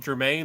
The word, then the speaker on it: Germain: It's called Germain, like geranium.